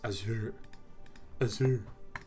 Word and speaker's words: Azure: brought up the word azure which is not pronounced azure it's azure uh microsoft's cloud computing stuff there's they have a project management thing called azure devops so a lot of these project management